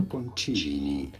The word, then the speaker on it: Bocconcini: Buongiorno, we are looking at how to pronounce with a typical Italian pronunciation the name of these small mozzarella cheese balls that are small, just the size of an egg.